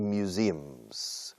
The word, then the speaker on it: museum: It has a lot of museums. Recuerda, museum se pronuncia todos miura, tarjeta sim. Miura, sim. Así se pronuncia. Acentuando la sílaba segunda.